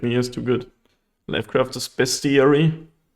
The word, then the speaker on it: Bestiary: Lifecrafter's Bestiary. Is it Bestiary or Bestiary? And it's not spelled like beast. It's spelled like best. Like the best ERE that exists.